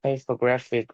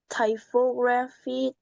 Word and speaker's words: typography: between different letter combinations about what makes great hypographic rate.